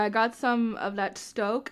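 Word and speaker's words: Stōk: Yeah, I got some of that Stoke. Is that how you pronounce it? Oh yeah, with the long O.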